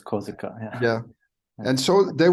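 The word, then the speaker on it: Korsika: France cops yeah yeah Corsica or in German it's kozika yeah yeah and so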